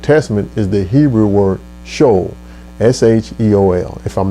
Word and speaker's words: Sheol: The equivalent word in Hebrew or the Old Testament is the Hebrew word Sheol, S-H-E-O-L, if I'm not pronouncing it right.